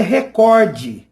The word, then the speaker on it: recorde: E a palavra recorde não tem um acento no primeiro E, então não é recorde, é recorde.